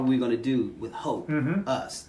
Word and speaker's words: Hope Us: The release, one of them is called Hope Us. Hopeless, I like Right? And it rhymes with opus, like in classical music.